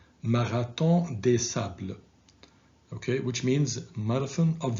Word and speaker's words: Marathon des Sables: They are Continental Divide, 6633 Ultra, and please pay attention to the pronunciation of this marathon because it's French, and in French it is pronounced Marathon des Sables, okay, which means Marathon of the Sand.